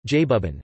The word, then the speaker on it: այբուբեն: The Armenian word for alphabet is Abuban Abuban Armenian pronunciation, Jabuban, named after the first two letters of the Armenian alphabet A Abe YB and B Ben Ben.